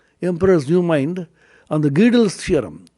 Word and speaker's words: Gödel: There's another discussion in that book, Emperor's New Mind, on the Gödel's theorem. Godel is a German, it's an Austrian word. It is pronounced as Gödel or Gödel.